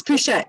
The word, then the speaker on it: Pouchet: Did I say her name correctly? Pouchet. It's Pouchet. Yeah, you said it right.